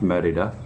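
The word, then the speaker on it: Mérida: think merida it looks like morita but it's pronounced merida it has the lowest crime rate per capita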